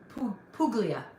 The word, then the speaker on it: Puglia: Puglia. Puglia. Because I think it means chicken, right? Puglia.